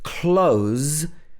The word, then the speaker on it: close: us not far away but if it's pronounced close with a z at the end can you hear the difference the first one was close second one is close so close this means